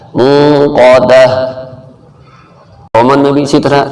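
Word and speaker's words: الموقدة: جیسے پہلے بتایا تھا گول تا پہ جب وقف کیا جائے تو وہ ہا بن جاتا ہے. موقدہ.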